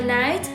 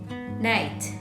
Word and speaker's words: knight: follows the letter K, so we don't have to pronounce the letter K when saying these words. Okay? Now, let's practice saying these words together in sentences so you can feel more comfortable not pronouncing the K.